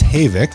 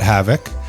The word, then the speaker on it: Havik: pronounced Havoc. Let's get that clarification out of the way. Not Havoc.